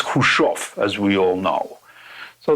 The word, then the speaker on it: Khrushchev: That's pronounced Khrushchev, or Khrushchev is fine too.